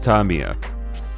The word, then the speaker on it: Tamiya: It is supposed to be pronounced Tamiya. I know, but Tamiya sounds like...